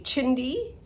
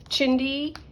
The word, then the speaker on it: chindi: it and this is what is called a chindy spell it out for you c h i n d i rug chindy is an Indian word for scraps among other